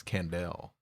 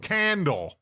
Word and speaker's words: Candelle: I feel like with that e that little, you know, the l e, it's candel, you know.